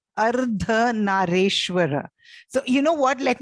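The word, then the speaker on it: Ardhanarishvara: One of them, to me, sounds like it's Ardhan Anishro. No, it is Ardha Nareshwara.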